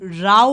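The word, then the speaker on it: row: राउ outside my house first one इज रो that means a number of things in a line it is pronounced as रो and another one second में आप देख सकते हैं बिग राउ outside my house that means राव means a noisy disturbance तो यहां पर आप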